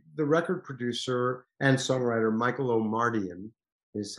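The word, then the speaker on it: Michael Omartian: that was the the record producer and songwriter michael o'mardian is how you pronounce his name brilliant man um asked me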